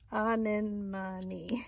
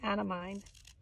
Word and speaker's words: anemone: some images i have a terrible time saying the name of this flower on in money i always want to say out of mind thank goodness for google